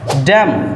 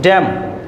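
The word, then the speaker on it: damn: এর উচ্চারণ হয়নি সাইলেন্ট ড্যাম এখানে এম এর পরে এন আছে এন এর উচ্চারণ হয়নি ড্যাম দ্যাট মিন্স অগ্রাহ্য করা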